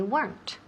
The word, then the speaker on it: weren't: So, remember, una sílaba. Y otra vez hay que escuchar oír la T al final. No, they weren't.